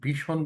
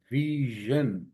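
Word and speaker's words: vision: এখানে ভীষণ বলতাম কি হবে ভিশন, ভিশন, ভিশন।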